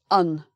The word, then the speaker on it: an: Because this is a very small little word, it's not one of the most important words in a sentence, we don't usually emphasize it.